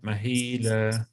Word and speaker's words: مهيلا: When there's the alif in the end, you have to pronounce it mahila.